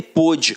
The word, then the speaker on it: pôde: o acento aqui ó um dia ele pude hoje não pode mais reparem que a pronúncia é diferente né cara então não